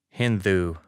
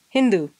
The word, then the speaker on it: Hindu: Because I don't say it with a hard D. I say it with a the. Hindu. Yeah, Hindu.